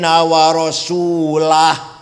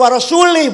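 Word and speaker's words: وَرَسُولُهُ: Karo rasulah bacanya. Wa rasulah maknanya Allah tidak melindungi orang musyrik dan Rasulullah pun tidak melindungi orang musyrik. Kalau wa rasulih bacanya Allah tidak melindungi orang musyrik dan tidak melindungi Rasulullah.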